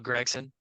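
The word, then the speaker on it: Gragson: going with this but let's talk about Noah gron real quick or Noah Gregson um because apparently that is how you say his name uh Noah greggson I actually think is a pretty valuable free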